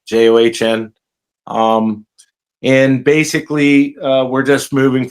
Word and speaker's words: John: John, the H is silent, John.